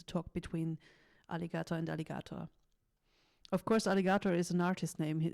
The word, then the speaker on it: Alligatoah: times about this because many people are not able to say his name right they say aligato Alig they don't get it but it's it's simple as that it's like the animal aligato behind this is